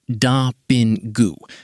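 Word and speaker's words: ダビング: The Japanese announcement uses dubbingu, pronounced da-bin-gu, a production term that can refer to the final sound mix.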